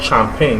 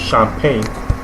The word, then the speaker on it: champagne: It's not champagne, although some people mistakenly pronounce it that way. The original French pronunciation has stuck, so it's champagne and not champagne.